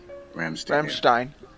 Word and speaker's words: Rammstein: Wait, how do you say it again? Rammstein. It's like the Burstein Bear.